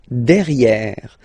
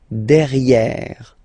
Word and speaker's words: derrière: Derrière. So if you look carefully, you've got E here and then double R, so it will open the sound of this E, and you should pronounce it E, okay? Derrière. Same thing here, you've got this E accent grave, E. Derrière, okay? Don't pronounce the final E.